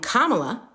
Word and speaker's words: Kamala: insinuated that Trump and Kamala which by the way is how you pronounce her name Trump and kamla are equally problematic that